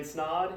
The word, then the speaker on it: Snod: my name is snod it rhymes with odd and I'm the owner